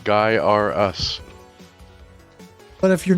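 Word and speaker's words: Gaiares: It's pronounced Guy R Us.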